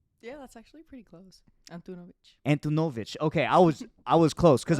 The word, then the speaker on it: Antunović: It's Antunović. Yeah, that's actually pretty close. Antunovic. Okay, I was close because I feel like it could be pronounced Antun or Antunovic. So most people say Antunovic.